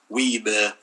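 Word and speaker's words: Wiebe: Wee.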